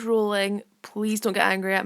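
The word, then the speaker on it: Rowling: pronounced her name wrong I know it's rolling please don't get angry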